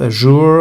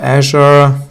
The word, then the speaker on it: Azure: uh then we have Microsoft Azure or Azure depends on whom you ask I have heard different versions of how it is being pronounced.